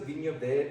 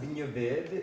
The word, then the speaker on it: Vinho Verde: And it's pronounced Vinho Verde in Portuguese, not Vinho Verde.